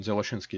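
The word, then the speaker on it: Dzyaloshinskii: So I would ask you to pronounce this. Well, Zeloshinsky-Moria interaction. Zeloshinsky-Moria interaction. Zeloshinsky is a Russian last name.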